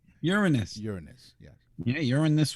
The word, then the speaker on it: Uranus: it took a picture of Uranus it's pronounced Uranus Uranus Uranus yes yeah urin this with me let